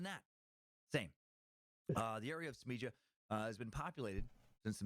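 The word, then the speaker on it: Smiljan: Tesla's birthplace, Smija, there I'm saying it right, in the mountains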